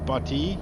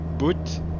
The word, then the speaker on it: Butte: It's I didn't know it pronounces Butte like B-U-T-T-E, like butt. I was like butty, butt, boot. I think I tried those in the beginning, like, nah, it doesn't sound good.